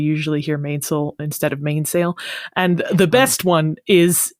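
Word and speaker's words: mainsail: and your top sale more commonly pronounced mainil and topsil I've never heard of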